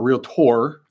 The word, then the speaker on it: realtor: who is a realtor, a realtor. That's the proper way to say it.